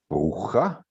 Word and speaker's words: Bruja: We are looking for any mentioning of my name, Bruja, pronounced in German like the Spanish word bruja, or for the official